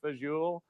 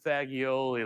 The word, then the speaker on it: fagioli: and it's that my dad shows off by pronouncing menu items correctly. He'll be like, "I'll have the pasta fagioli," and I'm like, "We're sitting in a strip mall in Hyannis, Massachusetts. We love pasta fagioli like everybody else."